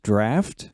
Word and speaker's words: Draught: Yeah, this is the Ent Draught, or as I guess we would say it here, Ent Draft.